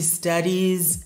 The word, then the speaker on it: studies: She studies every day. She studies every day. She studies every day. Et dans ce cas-là, la terminaison IES se prononce is.